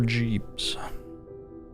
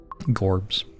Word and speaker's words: Jorbs: Is my name pronounced Gorbs or Jeeps? Gorbs. Yeah, Gorbs.